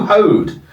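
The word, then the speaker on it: Hoad: Yeah, but the problem with Lou is his name rhymes with toad.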